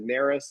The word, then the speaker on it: Narus: My My last name is Nerys. It's spelled N A R U S.